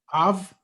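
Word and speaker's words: אב: av, Yep. And you know what that means. father. Yep. Yeah. Say it again. How do you say that one again? Last one? Av, Mhm. like Abraham, Abraham, Abraham, av, Exactly.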